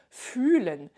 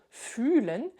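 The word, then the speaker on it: fühlen: dire ressentir quelque chose je vais dire fulen et je dois le prononcer avec un u long fulen parce que c'est ressentir. Si je le dis avec un u court, attention, écoute bien la différence, ça va faire fen fen.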